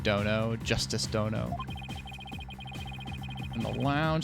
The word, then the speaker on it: dono: So, pronounced dono, and when attached to a name roughly means lord or master.